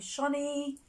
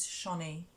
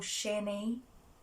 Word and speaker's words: Channie: It's me, Shani. If you don't know how to say my name, it is Shani. Okay? It's not Channy or Shani. It's Shani.